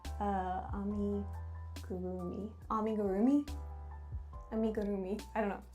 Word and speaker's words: amigurumi: Arimigumi? I was way off, guys. It's amigurumi.